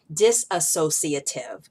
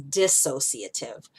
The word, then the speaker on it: dissociative: me on the pronunciation I was saying dis associative but the word is dissociative identity disorder so I